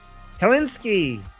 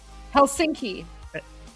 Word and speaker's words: Helsinki: Helinski Helsinki Hels Helsinki Finland right Finland Finland carally car rally for Iran.